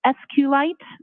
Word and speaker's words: SQLite: lowercase i t and sqlite uh is also commonly pronounced as SQ light so both pronunciations are acceptable now once you received